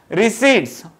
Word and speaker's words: receipts: अभी आउट of India से और एक इनकम आता है, क्या आता है, रिसीट्स, RECEIPTS, बट इट is pronounced as रिसीट्स from abroad.